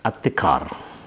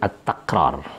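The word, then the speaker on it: التكرار: saat ini adalah tentang at-tikrar. At-tikrar, ada yang membacanya dengan at-takrar ya. Karara yukariru takrir, takriratan, takrar. Boleh, jadi boleh tikrar, boleh takrar.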